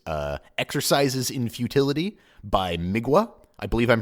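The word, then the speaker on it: Mgła: exercises in futility by migua I believe I'm pronouncing that right it's mgla a but the L's got some kind of weird accent which I believe in Polish is pronounced like a w so hopefully got that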